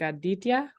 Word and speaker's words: Aditya: Like Aditya? Right, you're a good pronunciation.